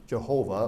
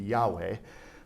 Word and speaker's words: Yahweh: all in capital letters you've got your name Jehovah or prior to the angl anglicized pronunciation or English pronunciation it would be Yahweh all right for who